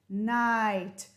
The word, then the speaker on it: night: a long i sound night bright light right might fight sight these are all the words we'll learn today and notice you don't hear the g or the h never never never let's read